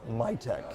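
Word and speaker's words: MITC: to be MIT C I understand pronounced my tech my tech my take so it's acronym City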